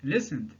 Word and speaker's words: listened: Le ED est prononcé comme D. On dit listened.